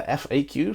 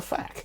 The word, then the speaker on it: FAQ: Some of you read the FAQ, some read the FAQ.